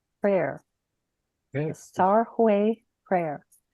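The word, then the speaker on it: सर्वे: Sarwe prayer. Okay. The Sarwe prayer. The V is like a wah sound.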